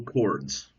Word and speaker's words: chord: page 135 page 135 now we have equal chords now one thing don't please don't ever say